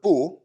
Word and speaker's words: 不: And then here, this word bu, or sometimes it's pronounced bu, depending on what comes after it.